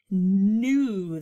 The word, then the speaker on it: knew: new puppy i wish and this one is with a silent k but i bet you already knew that in your noodle